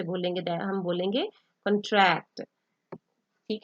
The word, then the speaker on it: contract: सो when we put stress on the first con, that is the noun, that is contract, contract मतलब कौन थोड़ा आपने लंबा करके बोलना है।